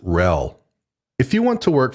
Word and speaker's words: RHEL: By the way, you'll often see Red Hat Enterprise Linux abbreviated as RHEL and pronounced RHEL.